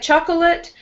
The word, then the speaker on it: chocolate: Yeah, so it looks like chocolate, but with U.S. pronunciation, we say only two syllables, chocolate. Chocolate. Yeah, so do it when you say it, just ignore this middle O.